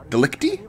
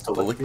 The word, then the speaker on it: Delicti: Delicti? Yeah, that's how you pronounce it. Corpus Delicti.